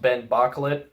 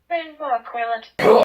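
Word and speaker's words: Ben Bocquelet: Also, I found out that it's pronounced Ben Boclet. Ben Boclet.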